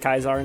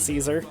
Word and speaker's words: Caesar: Julius kaisar it's technically how his name is pronounced kaizar not Caesar his main accomplishments led to his name being